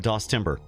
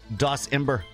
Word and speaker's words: DOSember: Sammy says, DOSember, the month where Brian plays DOS, but the T is silent.